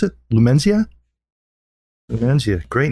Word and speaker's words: Lumenzia: How do you pronounce it? Lumenzia? Lumenzia.